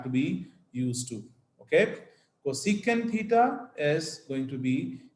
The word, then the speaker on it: cosecant: cosecant Theta cosec we we write it like c o s e c and it is pronounced as cosecant Theta similarly if you have